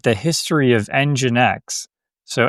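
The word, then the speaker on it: NGINX: you uh you read like the history of EngineX, so EngineX, it's spelled NG I NX.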